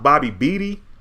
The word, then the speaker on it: Bobby Beatty: It's pronounced Bobby Beatty. I hope I said that. You said it's pronounced like Beatty.